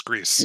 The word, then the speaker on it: gris: it's very little really gris grease yeah i'll be fine with this pronounced like greasy but i will say